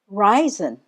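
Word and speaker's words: reisen: for today to travel risen risen that's the German word for to travel and you spell it this way r e i s e n this dress is on the first syllable Ry ryen and as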